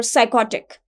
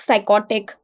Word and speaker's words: psychotic: word is Psych or psychotic and psychic psychotic we are not using we are not speaking the word or the spelling of the p in this because p is silent in these words one who is addicted